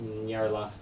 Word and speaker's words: Nyarlathotep: How do you pronounce Nope. that again? One of them has Nyarlathotep. self, so watch out. Nyarlathotep.